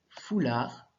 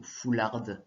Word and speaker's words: foulard: Mathéo a mis un foulard. Tu as vu, le D ne se prononce pas parce que le mot foularde, si tu l'as dit, tu as bien reconnu que ça n'existait pas.